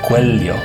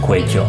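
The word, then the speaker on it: cuello: "C" in "ceñir" either he also says "cuelyo", which is typical in the Philippines, instead of "cueyo" which is more like Spanish spoken in other countries ♫ the arms are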